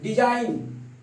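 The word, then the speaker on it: design: डिजाइन, डी आपका गायब।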